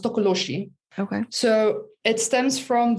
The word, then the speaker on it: tokoloshe: i don't know where i come from it's pronounced tokoloshi okay so it stems from the zulu mythology